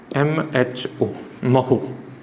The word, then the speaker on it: mho: या इसकी स्पेलिंग को पलट देते हैं, OHMO, MHO, महो। इसको क्या बोलते हैं? महो।